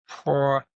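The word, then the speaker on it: porneia: The pornography comes from a word in the Bible called porna. If you want to look this up, it's spelled P O R N E I A.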